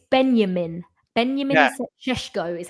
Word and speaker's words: Šeško: Let's start with Let's start with Cesco. Oh, actually, guys, it's it's Benjamin. Benjamin Shesho is how you pronounce his name. People have been saying to me for weeks on podcasts when I've been saying Chesco.